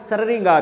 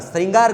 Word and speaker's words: श्रृंगार: री की मात्रा है तो इसका उच्चारण देखो एस आर ringaar हो गया इसका उच्चारण क्या हो गया saringar हो गया अपन को क्या करना है इसका उच्चारण श्रृंगार करना है आप कहेंगे सर ये